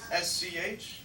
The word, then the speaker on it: Schumacher: Spell it for them, please. S-C-H-U-M-A-C-H-E-R.